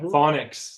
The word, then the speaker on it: Faunix: I think that's how they say it. That's right. Phonics.